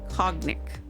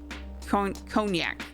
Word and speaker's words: Cognac: Let's call him Cognic. Cognac. Nope. Nope. Nope. I did not pronounce it wrong the first time.